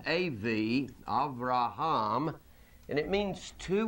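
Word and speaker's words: אב: from the article from the word Bob it's pronounced AV Avraham and it means to wit to desire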